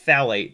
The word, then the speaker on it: phthalate: Chemically, polyethylene tetrathalate. I think it's pronounced phthalate. Tetrathalate.